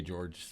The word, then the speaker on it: Georges: you should feel good i don't think i've ever heard him say george with an s at the end yeah gsp is so